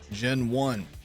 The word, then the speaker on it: Genone: then once you do, we're going to fight Gen One or Gown. I don't know how to say it. Aha, Gen One.